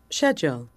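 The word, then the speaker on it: schedule: 바꿔 보아요 일정이 미뤄졌어요 이때 미국에서는 전부 skle이라고 하지만 영국적 영어를 쓰는 성우들은 거의 다 이거를 shle이라고 바 합니다 edle 특이하죠 자 들어보시겠어요 이게 우리가 알고 있는 미국 캐나다 북미권 발음이고 영국적 브리티 글이나 호주 쪽은 shle 세상에 듣도보도 못은 shle 그죠 자이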